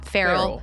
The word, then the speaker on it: Ferrell: today which is Sierra frell yeah Fel no actually someone in the comments said it rhymes with barel So frell yeah thank you for